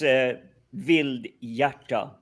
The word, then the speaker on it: Vildhjarta: That name was really tricky to pronounce properly. It's Vildhjarta.